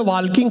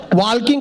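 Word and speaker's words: walking: बोला चलो गार्डन में वॉकिंग करेंगे वॉकिंग करते करते ताल किंग करेंगे मैंने कहा वॉकिंग नहीं वॉकिंग होता है टॉकिंग नहीं टॉकिंग होता है इसमें एल साइलेंट आता है फिर मैंने अपना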